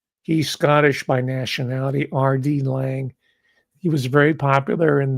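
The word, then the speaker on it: Laing: So, I've been into if you want to check them out on your own, it's spelled L A I N G. He's Scottish by nationality, RD Lang.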